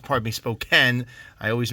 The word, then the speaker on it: Spokane: This is another Spokane Seattle spoke, pardon me, Spokane. I always mispronounced this one.